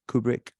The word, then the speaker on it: KBRK: We started a collective called this thing, KBRK, actually pronounced Kubrick.